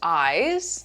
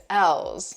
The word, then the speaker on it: Elles: Some people, I thought it was pronounced eyes, like a Y. Some people think it's elves, but the official name is ELLES, meaning for her.